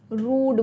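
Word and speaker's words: rued: तो रूड word का मतलब क्या है, तो अभी मैंने बताया ऑफ अ डे आई हैड रूड, इसका प्रोनाउंसिएशन कैसा होता है, रूड बोलते हैं हम इसको, है ना।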